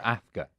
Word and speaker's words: Afka: Yeah, so Afka. Afka. A-F-K-A. Okay. Like Kafka, the writer, but without the K.